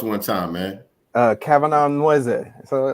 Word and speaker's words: Nweze: family is evo so in ibo the n and w is almost like the the n and k or the double l in spanish or the rolling r